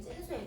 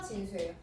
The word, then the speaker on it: 진수: 찐수예요. 찐수. 아, 원래 근데 이렇게 강가한 발음 원래 잘 안 써. 그래서 진수예요.